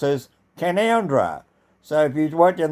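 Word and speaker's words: Canowindra: have a town called kanawindra which is also pronounced as conundra so if you've worked in the word Cano Windra and you wrote a spell it also pronounce it as canandra and recently it has been under flood water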